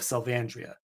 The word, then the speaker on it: Salvandria: So now the official title is the fall of Salvandria. Um which to me makes sense. You got the Salvan Andrea feels like a more natural pronunciation of that part of the word than Andrea.